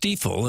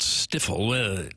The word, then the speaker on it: Stifel: Hopefully you know by now it's pronounced steifle and not stifle.